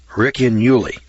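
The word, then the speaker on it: Ricinulei: It's spelled R-I-C-I-N-U-L-E-I. Riccinuli.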